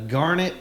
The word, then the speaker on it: Garnett: it's Garnet like darn it. Okay. That's what they've always said. Okay. I think Tut says Garnet like the stone, like the stone, but it's not even spelled the same.